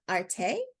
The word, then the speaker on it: Arte: thank you for joining us Marissa is with Arte and that's how you pronounce that correct correct a-r-t-e which stands for